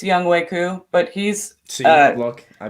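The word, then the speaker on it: Younghoe Koo: Like I can't Young Ho Koo. I'm not sure. I just butchered his name, I'm sure, but Yeah, it was close. It's Young Wei Koo, but he's look, I butchered it.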